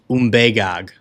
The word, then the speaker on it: Umbagog: Umbagog is the correct pronunciation. I'm going to call it the Umbagog because it sounds better in my American English accent.